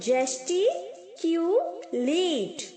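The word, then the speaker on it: gesticulate: जेस्चर्स, जेस्चरिंग, जेस्टिक्यूलेट। यहाँ पर भी सेम है, जी को हम ज की तरह साउंड करेंगे और जो CU है उसको हम के की तरह साउंड करेंगे, जेस्टिक्यूलेट। ओके, जेस्टिक्यूलेट, जेस्टिक्यूलेटेड, जेस्टिक्यूलेटेड।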